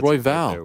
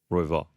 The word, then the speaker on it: Royval: sake what is it Roy ball now it's I thought it was Roy Val what I just said no no no no no no Roy fall all right hey this